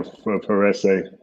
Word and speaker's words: Varese: where you are at I'm in veress Italy is that how you say it yeah veress it's like um it's like 45 minutes from milone how did you say